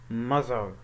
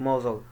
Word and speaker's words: mother: mother mother mother مش مازر، مش مقاس مازر مزر.